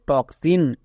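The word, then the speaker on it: toxin: গোজ ইউজ করবো না এর জন্য কস উচ্চারণ হবে তাই এটা হবে টক্সিন টক্সিন পরিষ্কার নেক্সট একই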